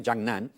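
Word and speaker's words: Zangnan: जिसे हम कहते हैं हिंदी में बोले तो ये उसका उच्चारण है जांगनैन।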